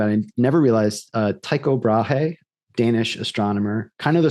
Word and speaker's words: Brahe: Just a side note, he was actually Brahe was I didn't know that's how you pronounced it.